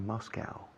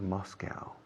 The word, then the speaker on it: Moscow: The capital of Russia is Moscow, o también se pronuncia Moscow. Los americanos solemos decir Moscow. Los británicos creo que dicen Moscow, más que Moscow.